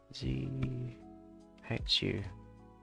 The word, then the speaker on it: Zhu: Z. H. U. Zhou? Z? Z? I don't know. I'll get it pronounced.